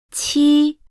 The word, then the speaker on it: 七: While. 七。 Brings out a strong airflow.